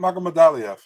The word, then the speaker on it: Magomedaliev: Tristan Parlater with Raymond Magomed Liev. I can't. That's the guy from Eagle FC, right? I can't pronounce his name. Raymond Magomedaliev.